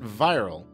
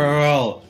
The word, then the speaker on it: Wirral: Or is it Viral? Because, you know, in Europe, German W's are pronounced as V's, and V's Whirl. Are pronounced as W's. Whirl.